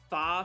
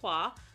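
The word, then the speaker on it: 花: and she was bashing how they said the the Fa family, which was actually pronounced Hua, had the phoenix as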